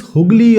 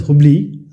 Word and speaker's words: Hooghly: It started in Bengal, and this is Hooghly or Hubli. So basically it's called Hooghly, sometimes pronounced as Hubli.